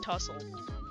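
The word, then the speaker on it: tousled: hello to be I have heard two different ways to pronounce this and I don't like one of them. So, I'm saying tussle and long enough to be tsled away from his face.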